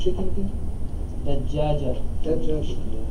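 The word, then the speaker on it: دجاجة: Dajjajatun. So there's a shadda on the first jim.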